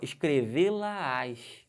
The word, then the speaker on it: escrevê-la-ás: Perceberam que tem uma subida de tom? Escrevê-la-ás. Né? Posso estar falando de uma das anotações. Essas anotações aqui, né? No caso, essa anotação aqui, escrevê-la-ás no caderno, para não esquecer posteriormente. Escrevê-la-ás. Mas olha só a subida que eu dou. Isso aqui é monossílabo átono, é fraquinho, não tem acento. Já essa aqui é monossílabo tônico, você fala com mais força.